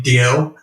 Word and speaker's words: Dalziel: there's actually an old um detective show called DL and Pasco and it's spelled the same way so any fans of